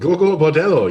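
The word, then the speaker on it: Gogol Bordello: Is that how it's pronounced? Gorgo Bordello. Yes, they took the name from Nikolai Gogol, which was a very known Ukrainian Russian writer.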